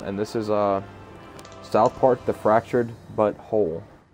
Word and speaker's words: The Fractured But Whole: this is South Park: The Fractured But Whole. And it's not butthole, it's butthole. How it's spelled is B-U... Butthole. No, B-U-T space W-H-O-L-E. but it's South Park: The Fractured But Whole.